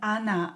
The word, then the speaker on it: она: Он, она, оно. Она. When O is not stressed, pronounce it as A. Она.